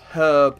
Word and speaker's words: herb: that I don't know I know it's herb and then in America it's herb they don't pronounce the AG but do they pronounce